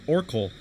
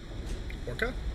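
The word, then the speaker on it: Orcal: It's O-R-C-A-L. Orkul. Yes, Orkul.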